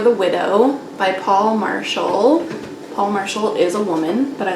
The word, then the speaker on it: Paule Marshall: praise song for the widow by paul marshall paul marshall is a woman but i looked it up